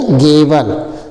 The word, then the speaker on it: gable: अगला है GABLE, GABLE, तो G से ग, ABLE है, तो A की मात्रा और ब ल, ई साइलेंट हो जाता है, तो क्या पढ़ा जाएगा? गेबल, GABL, गेबल।